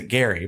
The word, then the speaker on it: Gerry: that we all say gerrymandering because he actually pronounced a Gary but it spelled GE rry but we also